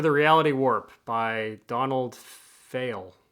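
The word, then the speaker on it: Pheil: reality warp by Donald fail feel he probably would prefer we pronounce it feel p-h-e-i-l that looks I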